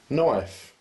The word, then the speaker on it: knife: Knife. The K is silent.